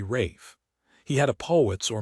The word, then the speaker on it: Ralph: His name was spelled Ralph, but he pronounced it the crazy English way, Rafe.